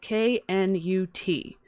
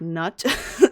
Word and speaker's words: Knut: first name is spelt k-n-u-t some folks like to say that it has a silent k some don't so some people like to pronounce it like nut or newt some people like to